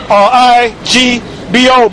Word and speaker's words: Igbo: You can say Igbo is spelled I-G-B-O, but you pronounce it Igbo, which they're close to Nigerians.